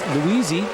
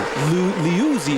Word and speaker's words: Liuzzi: Luisi, got to pronounce his name correctly. Liuzzi is the proper pronunciation.